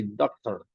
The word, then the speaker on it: doctor: The pronunciation is not the same. In Spanish, we say doctor, doctor. In English, we say doctor, doctor, doctor. Listen to the pronunciation. In Spanish, doctor, doctor. In English, doctor, ¿no?